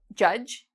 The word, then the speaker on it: judge: So our first rule about silent D is not pronounced in when you see spelt D and G together. Okay? So for example, there's a job, judge, like Judge Judy.